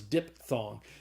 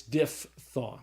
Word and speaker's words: diphthong: called a diphthong some we thought it was diphthong but it's not it's diphthong all right so a